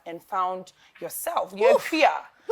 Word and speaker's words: Accra: You're in Accra, Yes, say it again. Accra.